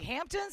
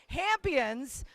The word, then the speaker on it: Hammpions: of the shorts film, Hammpions. I'm saying it correctly, right? Yep. When I first glanced at it, I was like, Hamptons? Something about the Hamptons? No, Hammpions.